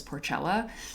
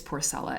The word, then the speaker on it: Porcella: say her name because i thought it was porcela but it's porcelain and can i just like just just look